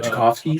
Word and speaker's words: Tchaikovsky: So the only score that it was in there was I think how do you say Troski uh Chakovski Chakovski Swan Song.